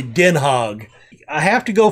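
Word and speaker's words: Den Haag: was that city called the hague or the hog it's actually denhog i have to go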